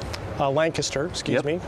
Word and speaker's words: Lancaster: Lancaster, British pronunciation.